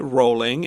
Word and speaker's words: Rowling: Rowling herself pronounces it Rowling, and so if you hear an American say the name, it may be a little bit different.